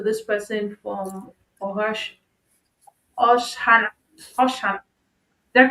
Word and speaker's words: Oshana: possibly speak to this person from Ohash, Oshana, Oshana. Did I pronounce it well? Someone Shana. was saying Oshana. Yes, Oshana region.